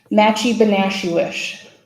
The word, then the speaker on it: Match-E-Be-Nash-She-Wish: Pronounce the name of your tribe. Matchy-Benashuish.